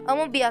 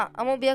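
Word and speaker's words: amoeba: बा का देखते हैं एक्चुअली प्रोनाउंस करते अमो बा और कुछ कुछ बच्चे वो अमो बया कुछ तो बोलते है मैं अमीबा बोलता हूं इसको अमीबा हा मैं भी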